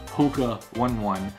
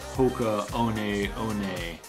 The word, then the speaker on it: Hoka One One: For the longest time, I was saying Hoka One One, but apparently they're Hoka One One, and these are the Hoka One One Bondi 6.